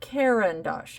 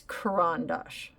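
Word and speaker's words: Caran d'Ache: this book the CR and it's corand Dash not karandash I know so many people that some who should know better pronouncing it karandash and it's karandash okay I'm just throwing that out there I'm not trying to you know put the the uh shame on anybody it's Kuran Dash Okay I learned it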